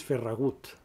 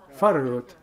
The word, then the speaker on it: Farragut: you have forgot to put, I will not pronounce very good in English, because in Catalan it's Ferragut. But in English is, Farragut. No, he said, why you have not put Farragut?